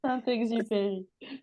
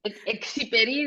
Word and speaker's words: Saint-Exupéry: Se pronuncia. Soy de acá del Sí, sur global. Saint-Exupéry. ¿Cómo se llama? Antoine. Exiperi, dicen en inglés.